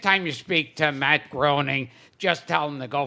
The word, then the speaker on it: Groening: You mispronounced his name, which is insulting to him enough. Is it Groening? Groening. Groening. Right.